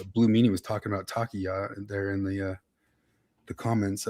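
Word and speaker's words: Taqiyya: I think Blue Meanie was talking about takiya there in the comments.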